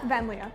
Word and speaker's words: Vanliea: Vanliea.